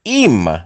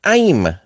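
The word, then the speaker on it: עִם: Le nou gade l, nou wè ke li eple ayin Même, li prononce im, ou wè kote ke yo mette prononciation a kote l, im, ou bien aim, tou.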